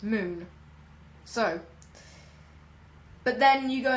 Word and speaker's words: Mün: can sometimes you see you see like the Mun written down with spelt M U with an umlaut over it and N and that would actually be pronounced moon so but then you